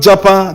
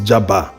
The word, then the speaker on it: Jaba: "It's not Japa," the LC Council responded. He continued, "We don't want to Japa. Japa is when you're leaving the country." The local government area the judge wanted to pronounce was Jaba, local government area Kaduna.